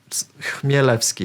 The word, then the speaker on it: Chmielewski: So this one is pronounced Chmielewski. So again, you need to forget about that C here at the beginning. Forget about it. Just Chmielewski, yeah? Imagine the C doesn't exist.